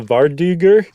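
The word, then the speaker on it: vardøger: It um, it's called the Varduger. And the reason I know how to pronounce it is because I looked up what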